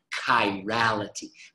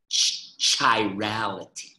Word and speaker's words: chirality: a hard case sound chirality please do not say chirality right it's kind of reality and the reason that